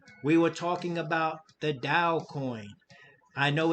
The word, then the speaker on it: TAO: were talking about the Dow coin I know it says it's spelled t a o but it's actually pronounced Dow and this is one